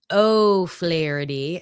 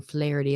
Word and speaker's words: O'Flaherty: It's O'Flaherty. I was saying his name wrong yesterday. I was just saying Flaherty.